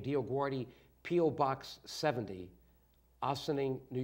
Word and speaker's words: DioGuardi: So I told people, if you pronounce my name right, DioGuardi, you're saying a prayer and you don't even know it.